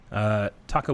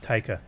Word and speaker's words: Taika: And then Taka Waititi came out. I think that's how you say his name. I always mess it up. Taika. Taika, yeah.